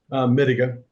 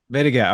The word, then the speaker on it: Mittiga: Mittiga? Mittiga. Mittiga.